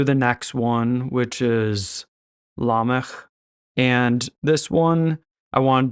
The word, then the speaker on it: Lamech: So the good news is Lamech's name is not the same. It actually is just the way that it looks.